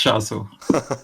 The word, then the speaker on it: Shaso: My question is, do I pronounce it Shaso or Shaso? It's Shaso.